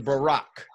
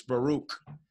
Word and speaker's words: Baruch: ACH we caught we would you hear him saying Barak right Barack hallelujah I remember that song right that's the wrong way to say this Baruch matter of fact every